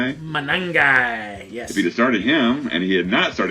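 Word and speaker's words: Monangai: Manangi.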